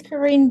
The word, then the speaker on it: Karine: see you again yes my name is Karine so it's a pretty difficult to pronounce because I'm French so it sounds a